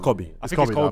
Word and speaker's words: Kobe: basketball fans I think it's no but it's Kobe you know I'm from Ghana it's Kobe it's K it's SP it's spelled double k k okay wait wait